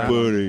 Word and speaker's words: Birnie: I mean, it's much more sort of southeast England estuary type Birnie. Birnie. That's how it's said.